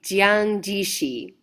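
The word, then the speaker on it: Jiang Jieshi: His name is Jang Jishi. In many western countries we have called him Shanghai Sheek which for the purpose of my pronunciation that's how I will refer to him.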